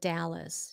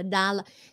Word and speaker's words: Dallas: Cái Dallas, chứ không phải là Đà là... Cái cái đó Dallas. Là cũng là cái mà Việt Nam mình hay nói. Đà, thấy chữ E là cứ kêu là A.